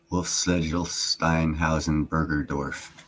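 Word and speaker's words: Wolfeschlegelsteinhausenbergerdorff: wolf sled Stein hasenberger dworf that's how you pronounce that name don't ask me to say it fast wolf sedel Stein Housen Berger dorf yeah that's it think Chad wolf watch my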